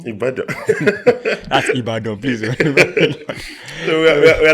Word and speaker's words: Ibadan: Ibadan. Ibadan.